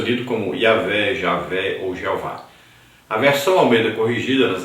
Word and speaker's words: Jeová: Na Idade Média, especificamente no século XIV, foram inseridas no tetragrama as vogais de Adonai. O Y é semiconsoante no alfabeto hebraico. O resultado é a pronúncia Jeová.